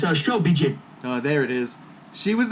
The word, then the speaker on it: Shobijin: so she was the showbin, because the J is silent, right? No, it's Shobijin.